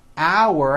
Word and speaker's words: our: The second word, our, has that ow sound like in the word out, and it sort of has a hidden W in the middle.